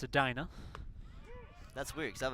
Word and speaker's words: Edina: So I thought it was Edina. It's Edina.